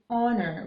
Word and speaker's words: honor: rather say this word honor with a silent H so it starts with a vowel sound therefore we use D